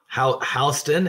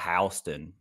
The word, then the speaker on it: Houston: And guess how they say it? Houston. Houston, and it's spelled the same way.